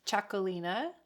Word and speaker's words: Txakolina: Okay, the wine lady says it's pronounced Txakolina, which sounds like chocolate.